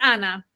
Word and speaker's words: Anya: It's Anna.